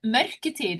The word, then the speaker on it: mørketid: Like the others that we've interviewed they've asked us to pronounce it, but no, well, might as well stuff up. It's mørketid.